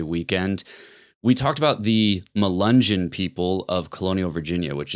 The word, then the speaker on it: Melungeon: During the episode, I was saying like Mungeon or something, but I was meaning to say Melungeon. So that's the proper pronunciation, I believe.